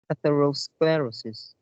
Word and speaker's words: atherosclerosis: the fortnite last uh third quart this is pronounced atherosclerosis atherosclerosis sclerosis yeah the the uh you you can